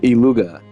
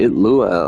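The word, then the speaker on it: Illuga: When I when I look at the screen and it says I L L U G- A, I'm thinking iluga. Why are they pronouncing it lua?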